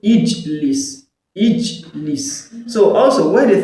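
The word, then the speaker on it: اجلس: So you're going to be using kesra to pronounce Hamzatul Wasl, it will become what? Ijlis.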